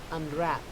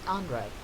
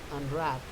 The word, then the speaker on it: unwrap: unwrap, not unwrap, unwrap.